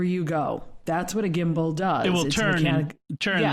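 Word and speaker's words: Gimbow: probably use um it's an auto gimbal called gimbal okay now you have to spell it g-i-m-b-o-w-l okay and what you do with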